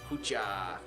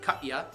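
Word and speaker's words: кутя: halapi Pasa or cucha it is cucha if you're not Ukrainian you pronounce it Katya but it is cucha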